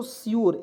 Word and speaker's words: sure: भी वर्ड है और इसमें अंतिम में यू आर ई आएगा, इसका उच्चारण योर के रूप में करेंगे तो श्योर हो जाएगा दोस्तों, श्योर, आधा स योर।